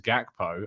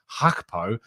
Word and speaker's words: Gakpo: pretty good's authority that you do actually pronounce the g and it is gakpo i see a lot of people pronouncing it just hakpo but i'm told that